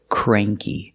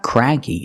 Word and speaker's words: cranky: we have this word cranky it's not craggy it's cray cranky cranky means grumpy or